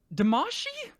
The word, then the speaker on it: Damacy: damasi overview katamari damacy i'm going to pronounce it differently each time because zamashi damashi that's how they pronounce it is the most recent